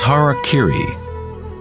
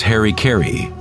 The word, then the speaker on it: harakiri: suicide or seppuku was harakiri was often mispronounced as harry kerry it means to impale